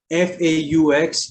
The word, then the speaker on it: faux: X is silent in very few words, and generally these words are borrowed from French, like faux. F-A-U-X is pronounced as faux.